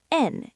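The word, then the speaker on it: 円: In Japan, the currency is yen or n in Japanese.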